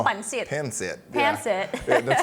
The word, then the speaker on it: pancit: It's pancit.